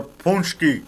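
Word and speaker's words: pączki: My cannoli paczki or punchki. They pronounce punchki. I call it paczki because that's what it looks like. When it's P-A-C-Z-K-I. That looks like paczki. It doesn't say punchki or punchki. P-A-C-Z-K-I. How can that be punchki or punchki?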